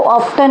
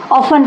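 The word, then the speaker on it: often: ऑफ का प्रयोग होगा ऑफ में टी साइलेंट होता है ओ एफ टी ई एन इसको ऑफ्टन नहीं पढ़ते ऑन पढ़ते हैं हाउ ऑफ हैव यू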